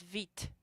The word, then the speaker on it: Vite: Hey, Łukasz, live is V, and this is vite. There's a T.